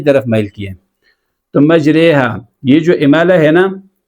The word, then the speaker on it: مجریہا: یہ صرف ایک جگہ آیا ہے، بسم اللہ مجریہا، تو آپ اس کا صحیح تلفظ آج جان لیجیے، اس کو موٹا بھی